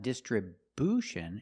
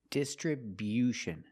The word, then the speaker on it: distribution: and third syllable and remember it's not distribution it's distribution make that y-yu sound after the b distribution this is a